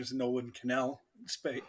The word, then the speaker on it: Connell: my name is Nolan Canal space say it right it's Canal oh sorry sir um